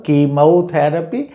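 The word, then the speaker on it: chemotherapy: तो ऐसी ही वजह से इसके ये 4 प्रोनाउंसिएशंस हो रहे हैं जो मैं आपको बता रहा हूँ। कीमोथेरेपी एंड कीमोथेरेपी एंड केमोथेरेपी एंड केमोथेरेपी। हालांकि वो कीमोथेरेपी सबसे ज़्यादा मेरे ख्याल से बोला जाता है।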